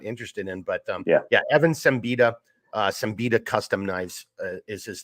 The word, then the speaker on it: Siembida: And then his last name is pronounced Siembida, but it's spelled Siemba.